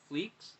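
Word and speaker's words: Fleecs: of stray dogs because tony fleeks is how you pronounce it uh was there so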